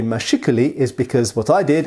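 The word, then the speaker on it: mâchicoulis: it here mashikuli now the reason i say mashikali is because what i did is i went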